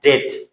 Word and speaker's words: debt: For example we have debt قرض یا خرزه.